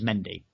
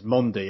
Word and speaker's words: Mendy: this chap when the commentators kept referring to Mendy as mondi and was just oh Jesus Christ you are